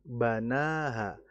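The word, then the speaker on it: بَنَاهَا: Namanya kalau kita perhatikan banaha fathah berdirinya itu ada di huruf nunnya. Jadi yang dibaca panjang nunnya nunnya bukan bnya.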